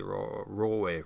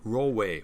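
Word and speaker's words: Roewe: cross 13 mini mg5 which is actually raw way raw way which is hard to pronounce because the way it's about w-o-e-w-e it's chinese name um but yeah there's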